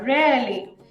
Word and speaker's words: rarely: So last R-টা pronounce করব না, rarely.